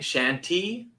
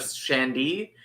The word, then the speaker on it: shandy: But when they're saying it, they're saying shanty instead of shandy, and the T gets lost because they say it so fast, and that's what's happening.